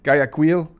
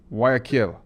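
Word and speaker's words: Guayaquil: Gaquil. Well, it's it's actually Oh, it's like the G is silent. Aquil.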